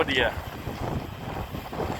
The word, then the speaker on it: Deere: จริง ๆ D R ครับ ออก เสียง ว่า เดีย ืม แต่ คือ John de นะ รถ จาก